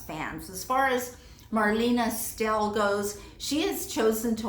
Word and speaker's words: Stell: See, I even mispronounce her last name because I say still when it's Stell.